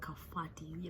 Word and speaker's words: Kabati: So it's written Kabati, but it's a town near Kennel and it's called Kafati. Like in Kikuyu, you say B as F.